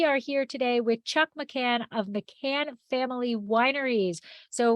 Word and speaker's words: McKahn: And am I saying it correctly? McKahn? You are. Okay. Yeah, you are. Okay. Yeah. So that is how I pronounce it, but I have relatives on the other side that they say McKahn.